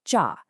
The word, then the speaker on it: 慈: In Korean, it's pronounced ja, and it means compassionate or loving.